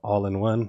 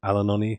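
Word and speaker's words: All-in-One: having problems with the intermittent mispronunciation of allinone instead saying alanon I thought I resolved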